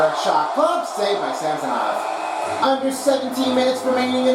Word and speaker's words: Samsonov: That is a hard name to pronounce it, but if you do it correctly, try to make sure you have it in there. Not Samsonov and not Samsonov. It's Samsonov. Make sure you have a correction.